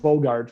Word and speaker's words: Bogaert: a e r t so it's pronounced bogart but i've got that extra e in there after the a just so